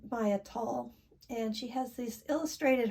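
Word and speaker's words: Maia Toll: I'll tell you that the deck I used for this particular thing that I did was this, I believe she pronounced her name Maya Tall.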